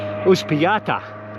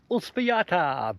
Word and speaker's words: Uspallata: So we're heading off to well, I've got to pronounce it, Uspallata today, and it's a 70k ride. But they say it's all downhill. Yeah, bullshit. All right, I'll keep pedaling. Welcome to Uspallata, but in English we would say Uspallata.